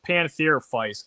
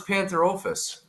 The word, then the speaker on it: Pantherophis: They're like, we're going to call corn snakes pantherophytes, and that makes sense because, you know, I could see them being closely related to a rat snake.